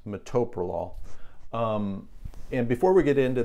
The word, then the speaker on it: metoprolol: It is pronounced metoprolol.